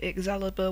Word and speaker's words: Exalibur: my future animations, and Exalibur was what I later renamed my channel to. I know it's pronounced Excalibur, but I silenced the C because shut up, that's why.